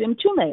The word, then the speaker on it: Mtume: So I didn't know how to pronounce his name. So when Louise said, "This is James M. Toomey," I said, "Are you James M-T-U-M-E?"